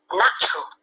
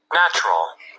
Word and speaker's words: natural: Tuy nhiên nếu nó là một tính từ thì các bạn phải lưu ý đọc là Natural. Natural.